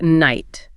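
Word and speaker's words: knight: In Old and Middle English, every letter was pronounced. It had a hard k at the front and a guttural back of the throat e sound.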